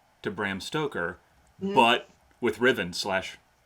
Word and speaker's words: Ruthven: And seeing that there was a Ruthven or a Riven, because Chelsea Quinn Yarborough has corrected my pronunciation on that. If it's British, it's Riven.